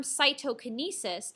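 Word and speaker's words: cytokinesis: look at this term cyto Kinesis cyto sounds like the word cytoplasm so cyto canis is basically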